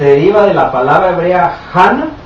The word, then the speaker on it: Hannah: Dice aquí la palabra Hannah o Hannah, que se pronuncia Ana también.